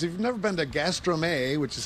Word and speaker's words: Gastrome: Market you guys if you've never been to Gastro May which is how it's pronounced this is what it looks like it's